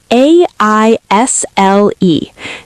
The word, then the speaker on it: aisle: Aisle, spelled a i s l e. The s is silent.